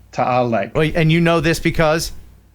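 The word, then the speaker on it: Taal: take care of buddy art Carlson so Lake tau is formed by a volcano hang on say that again I'm saying it wrong clearly is you you are saying it wrong yeah well your wife's like tal lake and you know this because because it's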